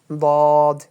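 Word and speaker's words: ضاد: যেমন এখানে আপনি দেখেন এই একটা নোক্তা আছে এটার নাম হচ্ছে দদ। উচ্চারণ করতে হবে এইভাবে। দেখেন বাংলাটা ঠোট গোল করে উচ্চারণ হবে। শুনতে শোনা যাবে। দদ দ।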